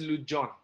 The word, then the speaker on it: Legendre: Written as Legendre, but pronounced as Lujon.